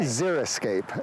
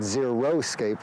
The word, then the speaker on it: xeriscape: I'm trying to say xeriscape Azure Escape it's from the Greek Ziri for dry unscapes for landscape not zero scape which some people say because that refers to strictly